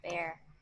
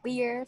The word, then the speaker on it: bear: No, bear vẫn là chịu. Beer nó ra là cái bia mình uống á là beer. À. B. Ủa tưởng cái đó là B hay E chứ. Nhưng mà đọc là beer. Đọc là beer. Còn hàng này đọc là bear. Còn ví dụ như là tôi không thể chịu đựng được nữa, ví dụ là I cannot bear it anymore, vẫn là bear, không phải là beer.